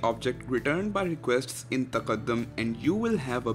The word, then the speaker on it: tqdm: TQDM is an Arabic word and is pronounced taqaddum, which means progress.